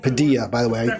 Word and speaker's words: Padilla: right, Padilla, by the way, I said his name wrong. Padilla, not Padilla, Padilla. So I'll get it right going forward.